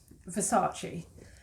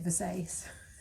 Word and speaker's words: Versace: very tassy label so versace i was decreasing because i a millennial it was pronouncing it versailles oh thank you jennifer